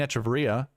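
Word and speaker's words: Echavarria: Stevens, McCarthy, and Echevarria, or Echevarria, I guess that's how you say his name. That's what the broadcast calls it.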